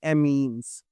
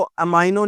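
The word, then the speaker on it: amino: इसको अमाइनो नहीं पढ़ना। यह अमीनो ग्रुप होता है।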